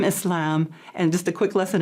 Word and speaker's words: Islam: many different pronunciations but the most correct is islam and muslim muslim yeah we're and now